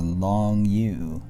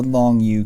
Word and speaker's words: Longyou: r s t u that was a long u hey that's the mnemonic way to remember the name of these caves you haven't heard about called the long u caves and you haven't heard